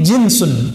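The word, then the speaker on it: جنس: itu dari bahasa Arab jinsun jins pakai Jin enggak Pak itu beda lagi ya jin itu bacanya Ya kalau ini jinsun Ja Jim Nun Sin jenis bahasa Indonesia jenus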